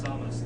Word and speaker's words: Samus: To say, people in the chat who are talking about how he says Samus, that is actually the correct pronunciation of the name as well.